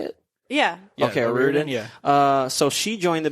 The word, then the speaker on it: O'Riordan: Yeah, Okay, O'Riordan, O'Riordan.